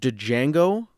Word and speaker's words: Django: uh one year earlier django another huge movie django to django i don't know he always says the d is silent but django to django